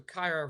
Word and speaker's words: Kyra: Right now, we're going to put in Tyra Banks. So Kyra rhymes with there you go.